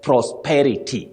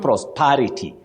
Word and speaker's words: prosperity: But when you come to the noun form, you talk of prosperity, not prosperity. Parity, no. Parity, yes.